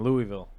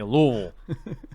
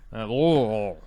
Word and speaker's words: Louisville: me a hard time because I was saying Louisville. And they're like, "That's not how you say it. You say Louisville." Louisville. Like, you gotta have a lot of something in your mouth.